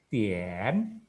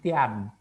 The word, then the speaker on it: tian: Tapi kalau ngajarin kamu cara bacanya apa? Te i an tien, tapi kita bacanya tien, bukan te i an tian, ya.